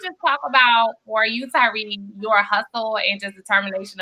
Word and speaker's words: Tyree: Is this how you pronounce it, right? Tyree?